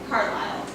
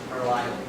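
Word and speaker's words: Carlyle: I don't know how to spell, how to pronounce it. C-A-R-L-Y-L-E. Carlisle. Carlisle.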